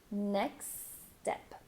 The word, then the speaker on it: next step: really connect those words you're actually going to drop some sounds from next so instead of doing next step you're going to go until the k sound neck neck then you're going to go straight to the s next step so really blend those sounds together what's our next